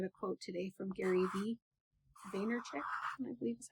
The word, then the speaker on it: Vaynerchuk: I also read a quote today from Gary Vaynerchuk, I believe is how you pronounce his last name.